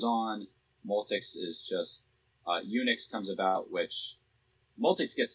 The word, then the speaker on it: Unix: operating system where it be named unix phonetically eunuchs for being a castrated multics yo i don't understand